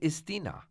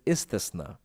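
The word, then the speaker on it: Istisna: to know these contracts what is isthina i know ali you pronounced it wrong it is isthasna it is a contract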